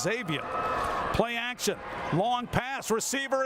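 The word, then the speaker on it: Xavion: got to be good exactly Xavier but it's pronounced Xavier play action long pass receiver is there Robinson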